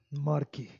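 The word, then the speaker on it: marquee: तो बहुत बड़े से टेंट वगैरह जो लगाते हैं उसको हम क्या कहते हैं, मार्की। क्या कहते हैं, मार्की, मार्की। तो इसका स्पेलिंग सही क्या है, QUEE फर्स्ट, ये सही है, मार्की।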